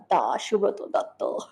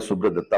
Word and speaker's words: সুব্রত দত্ত: দত্ত নাকি সুব্রত দত্ত বম্বেতে সবাই আমাকে সুব্রত দত্তা বলে কারণ ওরা সুবা শুভ এরকম করে উচ্চারণ করতে পারে না তো গ্রান্টেড তো আমার আইএমডিবিতে নাম সুব্রত দত্তা ইংরেজি যদি বলা হয় বাট কলকাতাতে সুব্রত দত্ত আর আমাদের সুব্রত দত্তা